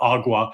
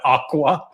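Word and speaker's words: agua: Spanish speakers call it awa but he mispronounced awa and said aqua which was funny on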